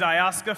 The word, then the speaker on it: Ayaska: is ayaska and the easiest way to remember it is to say i ask her and if you say i ask her fast that's the perfect way to pronounce my name i graduated from yale